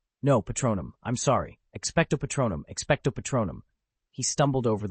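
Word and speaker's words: Expecto Patronum: Expeto Petro. No, Patronum. I'm sorry. Expectto Patronum.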